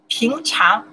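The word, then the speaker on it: 平常: In Chinese, we pronounce the. Too much here. Yeah, no. Píngcháng.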